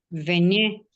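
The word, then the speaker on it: venaient: veñé, Bien. Vene, AIONT. De hecho, no pronuncio nada de esa terminación, solo me quedo con el fonema de la E.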